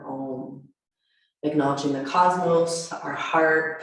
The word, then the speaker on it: Om: We'll begin our practice with an Om today. Today, drawing it out into 3 syllables. So it'll be ah, so ah, So the A-U-M, Om.